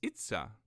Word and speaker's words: Itza: It's really easy because you just pretend like you're Mario. You just say, "It's a me," but just without the me. And then it's Itza.